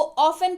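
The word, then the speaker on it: often: समझने वाली बात है इसको आफ्टर नहीं पड़ते हैं यहां पर साइलेंट है इसको ओपन पड़ते हैं तो कभी भी इसको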